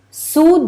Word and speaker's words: zu: And the idea behind phenomenology is zu den Sachen selbst. Okay, zu den Sachen selbst. Now when I write when I'm saying zu, it's actually ZU. That's how you pronounce it in German.